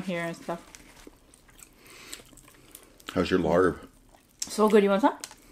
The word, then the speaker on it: larb: How's your larb? So good. You want some? Yeah. It's lap. But it does say it's... But it's spelled L-A-R-B.